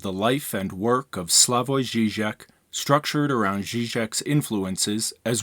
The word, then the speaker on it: Slavoj Žižek: just a couple of pronunciation notes his name is pronounced slavoy Zizek and the city that he's from is pronounced